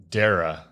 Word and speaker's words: Darrah: Yeah, Darrah, right? Correct pronunciation?